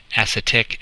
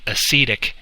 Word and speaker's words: acetic: Instead of acetic acid, it's called acetic acid, and acetic acid is vinegar.